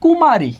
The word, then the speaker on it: কুমারী: এরপর একটু আসি, এখানে লেখা আছে কুমারী। কি লেখা আছে? কুমারী। তাহলে একটু খেয়াল করি, এখানে ক রস্যুকার আছে, আমরা রস্যুকার দীর্ঘকার যাই থাকুক উচ্চারণে একটাই হয়, সেটা হবে রস্যুকার।